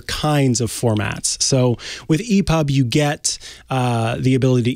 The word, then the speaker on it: EPUB: you should be using is called dot e-p-u-b that's e-pub e-pub format epub is a as